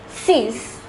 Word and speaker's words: six: The number 6, though spelled the same as in English, it is pronounced as six.